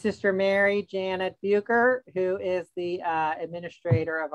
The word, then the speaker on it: Bucher: It's Sister Mary Janet Bucher, who is the administrator of Our Savior Parish in Covington.